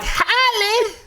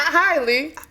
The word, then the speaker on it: Halle: So it's like Halle. Not Hailey. Halle. But I feel like our people have forever called her Holly.